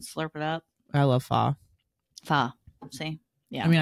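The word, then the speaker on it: pho: it up I love fa fa see yeah I mean I say faux but I guess it's fa it's fa yeah but it's spelled fo I also love a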